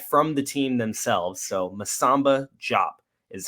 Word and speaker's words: Masamba: So Masamba Diop is how it is pronounced.